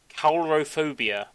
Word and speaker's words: coulrophobia: I don't know how you actually supposed to pronounce it. It's coulrophobia.